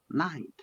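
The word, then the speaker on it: knight: And the next one, night. K is silent. Yes. Night. It's the Night. same pronounced as night.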